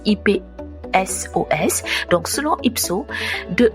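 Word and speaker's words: Ipsos: vu que en France selon IPSO, j'espère prononcer bien, c'est IP SOS.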